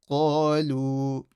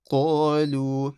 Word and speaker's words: قَالُوا: قَالُوا. Now this alif over here is silent because there's no fatha before it, so it doesn't do anything. قَالُوا. Make sure you read the qaf properly.